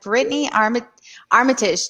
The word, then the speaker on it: Britaini Armitage: I am joined by Dylann Crush and Brittany Armitage.